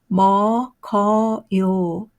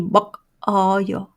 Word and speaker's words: 먹어요: 어 so 먹어요 먹어어요 how do you pronounce this one the sound is거요 뭐거요 don't say 먹어요 you should write 먹어요 but you pronounce you sound 먹어요 자 그다음 to is 있다.